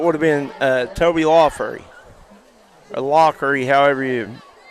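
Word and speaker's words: Laughery: have been uh Toby laery or lockery however you pronounce it name I'm not sure hey is it wery Toby wery Locker it's SP l a u g it is Toby Locker it's going to be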